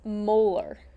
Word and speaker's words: molar: of your solution okay the units for molarity are capital M okay and that's pronounced molar so if I have